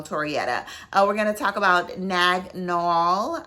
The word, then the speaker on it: Naag Nool: we're gonna talk about nagnol i think that's it's pronounced that way as well um i